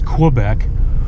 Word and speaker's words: Quebec: is like in in Quebec and you know it's funny being in the military you know we always pronounced Q as Quebec and then I was corrected in the civilian world it's Chloe Beck but then I hear